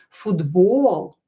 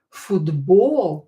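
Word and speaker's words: футбол: Pay attention to the stress in Russian language. The stress is very important. So try to pronounce the second syllable, which is stressed, a little bit longer. Football. Football.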